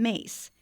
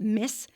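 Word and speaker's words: Myss: Oh, it did just remind me of Caroline Mace, Carolyn Mace, and a lot of people pronounce it mis, but she pronounces her.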